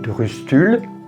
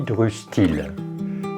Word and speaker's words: drustuilh: Le nom de ce meuble a deux prononciations. On dit drustul ou on dit drustil. Ça, c'est vraiment au choix de chacun.